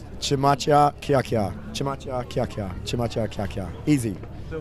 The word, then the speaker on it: Chmachyakyakya: I've been practicing this, so Chmachyakyakya. Chmachyakyakya.